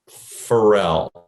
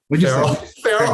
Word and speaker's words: Farrell: Our next guest, equally as awesome, is Anthony Q Pharrell. Pharrell, I said it right. I know you for like decades. Did I say it properly? Pharrell? Farrell. I keep saying Pharrell.